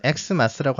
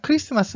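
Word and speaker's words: Xmas: 그래서 그 X를 붙여서 엑스마스라고 하는 게 아니라 크리스마스 맞습니다. 이것도 크리스마스라고 읽어주세요.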